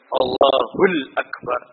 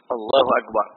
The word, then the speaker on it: Allahu Akbar: Ada yang baca Allahu Akbar, ada yang Allahul Akbar. Adapun yang rajih dalam masalah ini, nah, Allahu Akbar.